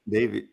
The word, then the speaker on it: Davies: Ray Davies pronounced Davis Okay.